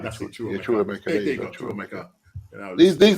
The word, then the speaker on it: Chukwuemeka: Chukwuemeka, that's it. Chukwuemeka.